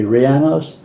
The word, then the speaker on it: rellenos: lady told me to pronounce it like piano, but say it with an R, and so that would be rellenos.